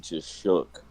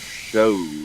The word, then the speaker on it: Shough: English, in English, there's no way you pronounce Shough as Shuck. Yeah. That's pronounced show in fucking English. Man, I used to think it was Tyler Shaw for the longest time.